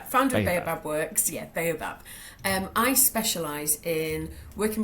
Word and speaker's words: Baobab: Yeah, Babaab Works. So yeah, founder of Babaab Works. Yeah, Baobab.